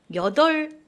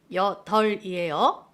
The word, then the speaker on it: 여덟: 여덟, 여덟이라고 발음하는 친구 있어요. 여덜이에요.